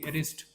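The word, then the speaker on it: wrist: एक शब्द आहे बघा डब्ल आर आय एसटी रिस्ट ज्याला आपण मनगट वगैरे म्हणत असतो का त्याच्यामध्ये सुद्धा डब्ल आहे परंतु चा आपण उच्चार करत नाही जस की काय नाईप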